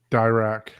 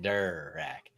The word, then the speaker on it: Dirac: I've always said Dirac. Mhm. Yeah. Dirac Live. More like fur, like not der, but more like fur, like Durac. I think is how Yes.